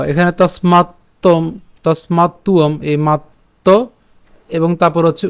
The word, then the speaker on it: তস্মাত্ত্বম: আছে, এটা হচ্ছে আমাদের, আমরা জানি যে অন্তস্থ ব, যার উচ্চারণটা কার মতো হয়? উয়োর মতো হয়। তো এখানে তসমাত্তম, তসমাত্তুয়ম, এই মাত্ত এবং তারপর হচ্ছে উয়ম।